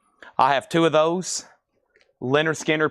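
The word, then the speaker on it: Lynyrd Skynyrd: Leonard Skannard. That is pronounced. I have two of them. Leonard Skannard is $24.99. I have two of those. Leonard Skinner, pronounced Leonard Skannard.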